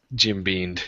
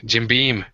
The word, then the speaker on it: Jim Beam: the really like expensive uh my brain just Jim Bean sorry Jim Beam no let me read all the names on